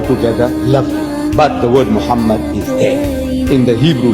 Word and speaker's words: Muhammad: Ben yehuda's Hebrew English dictionary it is correctly pronounced as Muhammad not mamat so how we're going to know for sure